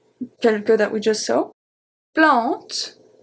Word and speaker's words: plante: Plante. Plante. A-N make the sound en.